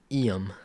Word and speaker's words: Iam: Like, Was I am a Iam? Iam. But you spell it I am. Yeah. IAM. Like Liam without the L.